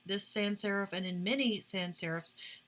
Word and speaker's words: sans-serif: is from the French in French it means without so a sans-serif typeface and my sister speaks French and she finds the pronunciation here hideous but in English we say sans-serif it means without sera